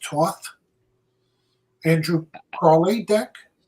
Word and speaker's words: Thoth: the is it pronounced Toth? Andrew Crawley deck? It's pronounced multiple ways. Okay. Thoth, Toth, Thoth. You pick one and be consistent.